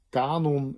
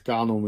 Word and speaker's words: kanon: En het enige klankverschil tussen die twee is op welk van de twee lettergrepen ligt de klemtoon.